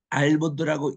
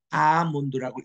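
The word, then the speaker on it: almond: 여러분이 아몬드 할 때에 알몬드라고 읽지 않으신 거 아시죠? 여기 L은 묵음입니다. 소리가 나지 않습니다. 그냥 R을 길게 뽑고 아몬드라고 읽으셔야 됩니다.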